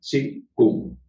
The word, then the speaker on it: Qigong: Se escribe así y se pronuncia Qigong.